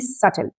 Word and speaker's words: subtle: Here you don't pronounce B. It is simply subtle, right?